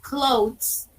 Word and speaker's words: clothes: The pronunciation is clothes in this store.